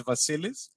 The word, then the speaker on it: Vasilis: the try the first name was fine it's vasilis it's i i did the case out but i mispronounced it yep it's a tough one anyway